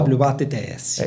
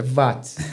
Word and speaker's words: Watts: VATS se escreve com 2 T's. Isso. E não é Z. É S. Tá WATTS. E não é Watts de WhatsApp, é VATS.